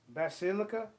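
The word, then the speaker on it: basilica: Peters uh that's that's liquor means the bass bass silica that's how you pronounce it that's silica bas al ICA it will dedicate two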